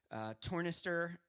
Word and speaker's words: tornister: I've been watching what you're creating with the tornister. I think that's how you say it, tornister. Tornister, that's right, yeah.